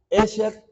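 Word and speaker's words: אשרי: Y ahora vamos a ver aquí, y la palabra bienaventurado en hebreo se pronuncia Esher, y en el Salmo 1, cuando dice bienaventurado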